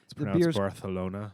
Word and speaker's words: Barcelona: out of Barcelona Spain Barcelona Barcelona it no it actually is is it really yeah that's terrible for the lisp that's actually how it's pronounced I'm never going yeah